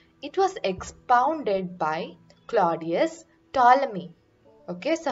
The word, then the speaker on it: Ptolemy: It was expounded by Claudius Ptolemy. Okay, so how you pronounce this is Ptolemy.